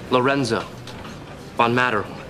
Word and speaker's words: Lorenzo von Matterhorn: Spelled like it sounds, two T's. Lorenzo von Matterhorn.